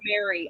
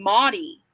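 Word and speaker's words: Mari: But I did have a boss who she How did she say my name? She said it so weird. She called me Motty. Yeah. Because she was like, "Well, you spell it like that." So it's like it's Motty.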